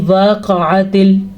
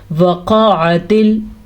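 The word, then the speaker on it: وَقَعَتِ: کو لمبا نہیں کرنا۔ اکثر لوگ کیا کرتے ہیں، زبر زیر پیش کو لمبا کر دیتے ہیں، یعنی وقعت، اگر ایسے پڑھا تو بہت بڑی غلطی ہے۔ ہم نے اس کو پڑھنا ہے وقعت، وقعت، لمبا نہیں کرنا، ٹھیک ہے۔ واقعہ، قاف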